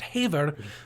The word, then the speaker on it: Haver: I know you spell it Radio Haver, but it's pronounced Haver because Haver is the Scottish word for speaking enthusiastically, which pretty much sums up what we do.